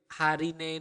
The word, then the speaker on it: harine: The word for today would be harine ne. Harine ne. Okay, repeat after me. Hari. Again, you need to pronounce the R clearly.